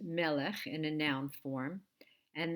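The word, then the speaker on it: מלך: probably know that the word for King is pronounced Melech in a noun form and this is the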